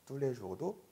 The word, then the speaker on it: tous les jours: tous les jours도 tout가 우가 되는 발음인 이유가 오유이기 때문이에요. 네, 오유는 우. tous les jours.